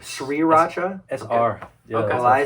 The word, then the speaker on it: Sriracha: almost for rice Russia Sri Racha Sri Racha that's our I say sriracha wrong three Shree Rajneesh we I'm not gonna do that tastes too long Sri Racha so the H is silent I say my go-to